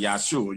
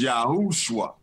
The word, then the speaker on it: Yahushua: And that's what, and you know, it's Yahshua, how we would pronounce it. Right. We pronounce it Yahshua. You know, we from America. We got to put the SH on that thing. Right, you know? Right. But the original name is Yahushua.